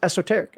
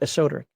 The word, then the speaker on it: esoteric: but it was the first time I'd ever actually heard the word pronounced esoteric and nobody ever corrected me when I was younger when I pronounced it a Soder so uh this now I pronounce it esoteric so like this pigeon